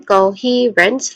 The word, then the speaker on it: coherence: Um when it comes to pronunciation coherence, there's three distinct sounds starting with co again. co. So there's co and then he he which is the stress syllable here. It has a long e vowel sound and ends with runs. Again friends short e a v vowel sound and ends with a hissing sound or the letter s sound.